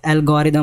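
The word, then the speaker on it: algorithm: एल्गोरिदम, एल्गोरिदम क्या होता है, इसका जो करेक्ट प्रोनाउंसिएशन होता है एल्गोरिदम होता है।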